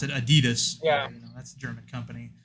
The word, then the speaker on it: Adidas: How many companies rather, like Adidas, which is how the Germans pronounce it. We pronounce it Adidas.